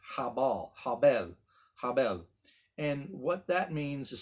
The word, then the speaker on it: Habel: a b e l but in the original hebrew it's got the h on the front of it h a b e l it's habal and what that means